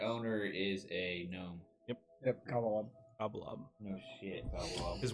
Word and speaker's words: Cobblelob: It's Cobblelob, like cobble Cobblestone. and lob. One word, and then loft. L-O-B at the end? Yeah, Cobblelob, and then loft.